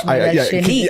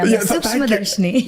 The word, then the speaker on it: Sookshmadarshini: Sookshmadarshini. I need you to say it. See, that's what, I was helping you. Sookshmadarshini.